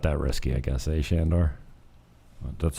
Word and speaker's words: Sandor: It's spelt Sandor, but it's Sandor.